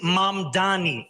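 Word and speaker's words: Mamdani: And furthermore, the name is Mom Dani. M A M D A N I. You should learn how to say it because Well done, Zoron Manni.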